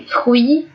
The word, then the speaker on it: fruits: Les fruits, not fruits, okay, UI is pronounced as a we sound, and although we would say fruit, even if there's more than one, the French, when it's plural, add the S, although they don't pronounce it.